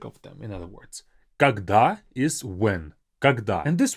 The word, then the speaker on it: когда: But make sure when you have this word in a sentence, you give it some air. You give it some freedom to kind of fly off. Когда. Pronounce it with a bit more of that airy kind of feel to it.